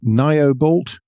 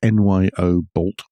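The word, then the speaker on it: Nyobolt: tech company that nobody's ever heard of called Noob bolt we had some debate over the pronunciation it's Nyo bolt has confirmed plans to begin EV battery production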